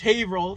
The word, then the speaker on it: Haverhill: we're here in haverhill haverhill massachusetts uh it's haverhill for you non-massachusetts people just so you know it's not spelled like that we'll put the spelling right there